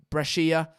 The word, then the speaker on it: Brescia: Brescia did finish, or Brescia, apparently that's how you pronounce it, finished 19th out of 20 in Serie A this season.